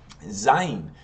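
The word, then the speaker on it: זין: Zayin. Zayin is the Z sound, and Zayin in English is spelled Z-A-Y-I-N.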